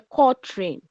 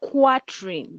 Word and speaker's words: quatrain: It is spelled quatrain, but it is pronounced quatrain.